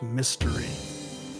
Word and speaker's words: Miss Terry: inquiry of Miss Terry I believe it's pronounced mystery because that's how they pronounced it for in the in City Escape do you get it